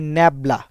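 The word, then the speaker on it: nabla: এবং এটা কিন্তু এই যে উল্টানো একটা ত্রিভুজ, উপরে ভেক্টর চিহ্ন, এবং এটার উচ্চারণটা হয় ন্যাবলা। লিখে দিচ্ছি আমি, এটার উচ্চারণটা করা হয় ন্যাবলা।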